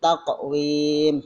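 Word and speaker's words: تَقْوِيمٍ: Tak, bukan tak tapi taqwim, huruf qalqalah. Jadi jangan lupa huruf qalqalah itu ada 5: ba, jim, dal, to dengan qaf.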